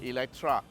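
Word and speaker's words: Eletre: Okay, so this is the latest thing that's exciting the motoring world, the Lotus Electre. Okay, it's spelled with E-L-E-T-R-E, but it's pronounced with a A. Yeah, Electra.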